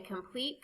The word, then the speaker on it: complete: There are two syllables in complete. In the second syllable, the vowel E is followed by consonant T and E. The final E is silent and the E before it has a long sound, like E.